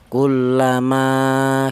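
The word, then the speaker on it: كُلَّمَا: Cara bacanya ini dibaca panjang, ma, dua harokat atau dua ketukan ya, kullama gitu.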